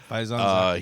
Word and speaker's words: Faizan Zaki: Faizan Zaki. Oh, is that how it's pronounced? That's how it's pronounced. Yeah, Faizan Zaki.